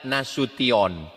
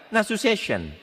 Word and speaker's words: Nasution: Cara membacanya nasution. Ada pula pembawa acara yang baca nasu session.